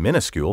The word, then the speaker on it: minuscule: ni s CU le the misspelling is now so widespread that most current dictionaries listed as a variant without comment and many also list the pronunciation minuscule first I would argue however that the alternative spelling and pronunciation are not only at variance with the words history but are also quite frankly idiotic look in any dictionary